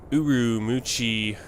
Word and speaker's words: Ürümqi: flight 301 we're in uru muchi China that's more how they say it that's more how you say it in Chinese we're going to be